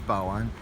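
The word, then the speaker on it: 宝安: The Baoan, you know, if you're use English pronunciation, you call it Baoan, but if Chinese pronunciation is Baoan, and it's a suburb of China.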